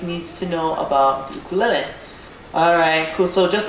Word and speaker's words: ukulele: So, first things first, it's pronounced ukulele.